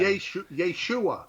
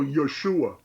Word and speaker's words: Yeshua: Yeshua. That's funny. I never paid attention to that. Okay. Accent is a second syllable, by the way. But they always go Yeshua.